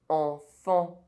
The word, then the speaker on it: enfant: Otherwise, EN is pronounced en. Argent. Sentir. Gencive. Enfant.